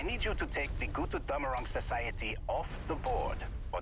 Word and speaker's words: Götterdämmerung: Kirchbach Götterdämmerung Guys, please invest in some speakers that actually know what the you're talking about. Jesus Christ. Kirchbach I mean, if you want to bastardize it with some North American accent, sure, but I don't know. It's called Götterdämmerung. Götter? Dämmerung. Twilight of the gods.